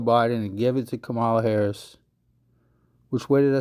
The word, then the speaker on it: Kamala: Because they done snuck him out of the motherfucking situation, and they done put Kamala Harris in there.